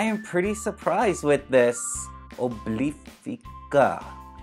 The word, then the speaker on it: Obliphica: pretty surprised with this Oh bleep pika that's how you say it so you guys here's